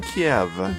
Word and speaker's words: Kiev: pronounce it in English chicken Kiev yeah with a V sound right and this is kind